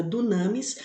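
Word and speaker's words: δύναμις: sobre ti o poder essa palavra poder em grego ela é pronunciada Dunamis você certamente Já ouviu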